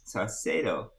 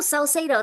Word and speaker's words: Saucedo: Saucedo. Make sure I'm saying it right. are you there? Okay. There he is. There she is. Hey, okay. Oh, Did I butcher your last name? no, Salcedo, that's correct.